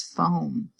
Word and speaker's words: foam: at this next word the O says his name the a is silent the word is foam here I have the